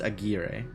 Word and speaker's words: Aguirre: If that is in fact a Hispanic name, it's pronounced Aguirre.